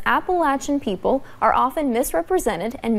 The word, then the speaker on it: Appalachia: And it's pronounced Appalachia, not Appalachia. Lawmakers give the pronunciation lesson